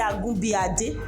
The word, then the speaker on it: Agunbiade: The first one, if a word is long in Yoruba, you can divide it into syllable, so that you be able to get the pronunciation. For example, now I say Agunbiade. Agunbiade. Let me write it down. Agunbiade. How many syllables? 1, 2, 3, 4, 5. We have 5 syllables here.